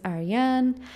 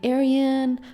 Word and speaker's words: Ariane: new to the channel my name is ariane you can say aryan but i'm kind of thrown off by the american pronunciation or just english pronunciation of my name i was talking about this with my friend the other day but seeing aryan instead of ariane makes me think that my name sounds like i'm saying i'm aryan like from the aryan